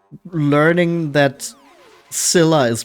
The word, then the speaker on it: Scylla: This is like learning that Scylla is pronounced with a silent C in English all over again.